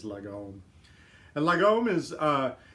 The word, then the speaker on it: lagom: And the closest I can say it without a Swedish accent is lagom.